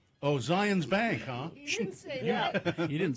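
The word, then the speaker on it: Zions Bank: which is what uh it rhymes with uh Lions rank oh Zion's Bank huh yeah you didn't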